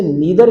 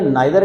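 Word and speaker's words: neither: जैसे नीदर कहना या नाइदर कहना, ईदर कहना या आइदर कहना, तो both of these pronunciations they are correct, वो करेक्ट हैं, एक्यूरेट हैं, और RP के लिहाज से हैं।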